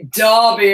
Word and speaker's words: Derby: Can I be obnoxious and pronounce the British way? Derby Oaks.